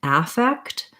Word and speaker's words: affect: a video about this they have the same pronunciation unless i'm using the noun affect but in the verb to affect to have an effect to have an effect or to affect something so this is the verb and this is the noun they're both the same which they both sound like a effect with the stress on the k on the second syllable effect so the first